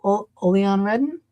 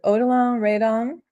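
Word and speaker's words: Odilon Redon: So now tell me about the artist um Olon Redden. Yeah. Yeah. I I 1800. Yeah. The way I pronounce it is probably not perfectly the way the French do. Odolon Raidon.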